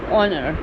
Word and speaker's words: honor: When you say that it's an honor for me, you will not pronounce H over here. You will start with O, honor.